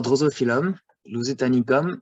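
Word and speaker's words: Drosophyllum lusitanicum: For example, our Drosophilum, Lusitanicum, the best it's to pronounce is Drosophilum lusitanicum.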